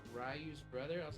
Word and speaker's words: Ryu: It's not Ryu. It's not Ryu. It's Rayu. No, it's it's Rayu.